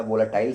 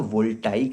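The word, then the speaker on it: voltaic: अच्छा, कोई कोई इसको क्या वोलाटाइल सेल भी बोल देता है, या वोल्टैनिक सेल भी, नहीं, ठीक है, होशियारी नहीं। इसका नाम है या तो गैल्वेनिक सेल या तो वोल्टाइक सेल।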